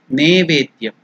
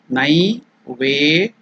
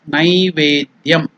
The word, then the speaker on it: Naivedyam: See, it is not, some people in some parts of India, they pronounce it as Nevedyam. It is not Ne. It is Nai.